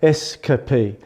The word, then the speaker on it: Eskapee: Or the way that I sort of say it, I hang on the S, so Eskapee. And also change the K a little bit.